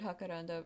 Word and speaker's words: jacaranda: I'm assuming it's pronounced jacaranda because in Spanish J makes the H sound and this a singular R, you sort of tap the top of your roof or the roof of your mouth with your tongue.